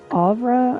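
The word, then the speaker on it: Ofra: woman named Opera uh actually I believe that would be pronounced avra I'm I've sort of made a study of some of the Linguistics of this little fantasy world and a lot of times the uh the F sound the F the letter F is actually a v sound like in aloft's last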